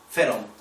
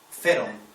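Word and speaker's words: φέρων: palabra es ferom pH h e r o feron está escrita originariamente PH e con acento r o n feron esa es el verbo originario con el que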